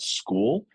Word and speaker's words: Skool: And we're really trying to dig into a platform called School. It's spelled Skool.